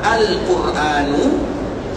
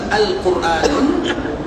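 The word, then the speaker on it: القرآن: Alquran Alquran ituatul Isam bacanya dua yang pertama alquranu dan bacaan yang kedua quranun tidak boleh kita mengucapkan alquranun dan tidak boleh kita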